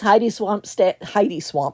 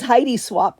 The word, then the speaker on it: Heidi Swap: These Heidi Swamp, not swamp. These Heidi Swap stamps are really cool because the rings are actually magnetic and you could attach them to the stamp.